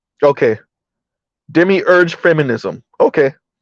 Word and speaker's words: demiurge: Okay, thank you, Better You, and it's pronounced demiurge. Okay, demiurge feminism.